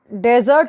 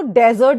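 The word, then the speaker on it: desert: देखिए, जब रेगिस्तान वाला डेजर्ट होता है उसको डेजर्ट बोलते हैं, ओके। प्रोनाउंसिएशन में आप लोग ध्यान दीजिएगा। और जब मीठे पकवान, जब खाना खाने के बाद हम कोई मीठा खाते हैं ना, उसको डिज़र्ट कहते हैं। उसका प्रोनाउंसिएशन होता है डिज़र्ट।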